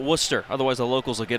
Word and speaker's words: Worcester: here in worcester massachusetts it's spelled like warchester but you got to call it worcester otherwise the locals will